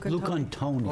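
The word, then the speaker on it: Lucantoni: I move to appoint Jason Lucon, how do you pronounce that? Luke and Tony? I'll take- Luke Antoni.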